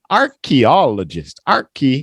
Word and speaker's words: archaeologist: Archaeologist. And the stress is on all. Archaeologist. Alien. This lady's gonna. Oops, go ahead. Archaeologist. Yeah, it's that deep O again.